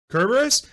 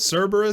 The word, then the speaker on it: Cerberus: kerberos it's just awesome i'm going to abandon kerberos that is how it's supposed to be said thank you that is how it's pronounced cerberus that sounds stupid though it just deserves be